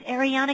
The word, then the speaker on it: Ariana: a name jack huffed it's ariana kissed my butt the second t is silent get bent ariana archer